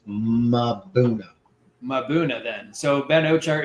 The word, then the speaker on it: Mbuna: She doesn't say Mbuna. No, Mbuna, so Mbuna is wrong. How I say it is wrong. It's Mabuna.